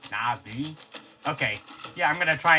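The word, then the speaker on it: Na'vi: Also, Navi is pronounced Navi.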